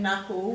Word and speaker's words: knuckle: what oh we've also in knuckle we've got a silent k which is the common silent letter before an n now let's go